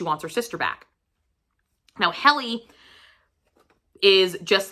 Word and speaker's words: Heli: We also follow, I pronounce it as Heli. It's H-E-L-I. Maybe it's Healy, but however you guys want to pronounce it.